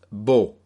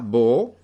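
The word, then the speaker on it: בו: Pero es la traducción de la palabra hebrea bo, que se escribe con 2 letras, bet y vav.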